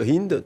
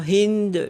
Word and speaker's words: Hind: pas à dire le le prénom Hind le le ha n'est pas prononcé ralini donc elle veut